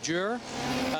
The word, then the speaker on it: Győr: We got some comments about pronouncing it like Győr, but it's apparently something like Győr.